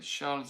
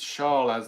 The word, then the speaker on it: Charles: Do you pronounce the S on Charles? I always forget. Charles Aznavour. Charles. Maybe when you put it together. I know you don't. You don't do liaison on names.